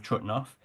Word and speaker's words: Trutnov: my brother in 2008 in German it's called trout now but for the purposes of this talk I'm going to call it by its check name of trutnov trutnov had a complicated